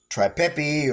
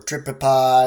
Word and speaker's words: tripepii: This one is a Nhandu as well, but this is the Nhandu tripepi or tripipi or tripepii. You ask 10 different guys, they'll give you 10 different pronunciations. You can just pronounce it however you want.